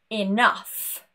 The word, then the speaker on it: enough: For example, laugh, cough, enough. We have completely changed this sound. It's not a G, it's not an H, no silent letters. Just a completely new sound.